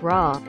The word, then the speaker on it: roar: use also company chips Roar most English people pronounce this like raw raw proper note also improper